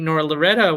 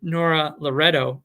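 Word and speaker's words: Nora Loreto: there's real activism and voting as i think nora loretta would nora loretto she doesn't like it when people say her name wrong which i can understand as somebody who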